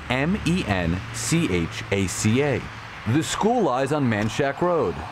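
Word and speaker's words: Manchaca: The school lies on Man Shack Road, spelled M-A-N-C-H-A-C-A.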